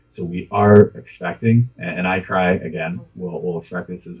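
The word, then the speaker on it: ICRI: So at Sika, we do defer to iCry a lot. So that's how we pronounce the acronym.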